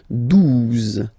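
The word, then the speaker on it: douze: exist phonetically, 11, okay, 12, 12, O, U, the two together will give you the sound OU, okay, and then Z, 12, 12, alright.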